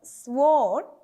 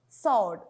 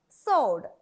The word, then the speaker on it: sword: This is not sword. It is sword. Because here the double u is silent. We don't pronounce the sound W here. So it is pronounced as sword.